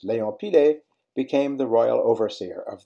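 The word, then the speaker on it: Pillet: French is une lait, therefore pilet, as opposed to pillé, the two L's pronounced as Y, as in Darius Milhaud.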